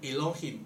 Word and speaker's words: Elohim: 那个神他当然是一个单数的名称，然后他的发音叫做 Elohim，就是以罗心。